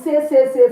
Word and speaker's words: ces: You use say, CES, say.